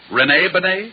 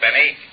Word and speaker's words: Bennet: It's pronounced Bennet, not Benny. That idiot was calling him Rene Benny.